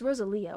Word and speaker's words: Rosalia: No, it's Rosalia.